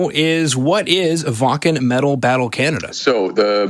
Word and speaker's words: Wacken: we're talking about Wacken yeah which is properly pronounced says Vulcan that's absolutely excited so as you mentioned there